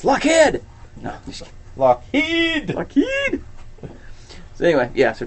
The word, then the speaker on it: Lockheed: The way you pronounce Lockheed makes my hair stand on end. Lockheed. It's what? How do you pronounce it? How do you pronounce it? He says Lockheed. I just say Lockheed. Oh. It's okay. I say Lockheed. Okay. I say Lockheed. Heed, pets, no! I'm going to start calling him Lockhead.